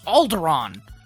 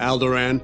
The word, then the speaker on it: Alderaan: sound effect to the way that typo mispronounces Alderaan bail Antilles of Alderaan Alderaan alder and daughter alder and alder alder an alder alder and if you wanted to